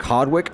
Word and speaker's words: Hardwicke: Then you also have Cedric Hardwicke, not Cedric, he pronounced it Cedric Hardwick.